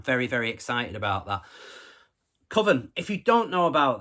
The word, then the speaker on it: Cwfen: Quofen. Now, I know that's not the pronunciation. I believe it's pronounced Coven, but it's spelled Cwfen.